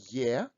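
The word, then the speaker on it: е: read it loudly sum next letter is letter yeah russian year and it's like the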